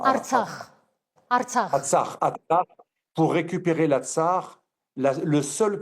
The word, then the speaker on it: Artsakh: vous l'appelez comme ça, vous prononcez Atrax. Hein, Artsakh.